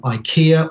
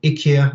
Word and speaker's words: IKEA: with people like um ikea or ikea i think is how the swedes pronounce it and maybe actually ben can probably advise me on that swedish ikea okay thank you ben